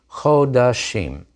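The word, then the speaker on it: חֳדָשִׁים: of the month, rosh chodashim. And notice how that O vowel of chodesh asserts itself even in the compound shva under the chet in the plural.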